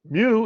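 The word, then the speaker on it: μ: Mu is the mean. Yeah, Right. that's mu. It's a Right. Greek lowercase m. It's pronounced mu. It looks like a U, but it's mu.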